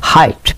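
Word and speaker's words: height: এটার উচ্চারণ হেট না। হাইট।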